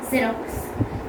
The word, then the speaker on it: Xerox: We are not telling it as Xerox. We are telling it as Xerox. Xerox. So we pronounce X there.